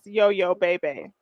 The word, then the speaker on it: YoYoBayBay: leave off so yeah we do it is yo yo-yo baby okay i love to hear other people say